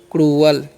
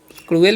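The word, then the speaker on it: cruel: यू ई एल है तो इसे पढ़ते हैं क्रूल ठीक है क्रुएल भी पढ़ते हैं क्रूल बोल ठीक है तो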